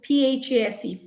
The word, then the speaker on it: phase: phase again phase okay this is p-h-a-s-e phase okay you mean a lot of people get confused between ph and f sounds so you got to be careful so silent letters i